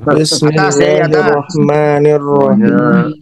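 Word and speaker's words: بسم الله الرحمن الرحيم: Bacanya gimana yang benar? Bismillahirrahmanirrahim. Semuanya kasrah Paling atas.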